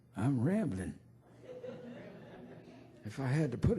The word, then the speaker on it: Ramblin': I knew he didn't know me very well cuz he pronounced my name with a G on the end like they do in England. Rambling. I ain't rambling. I'm rambling.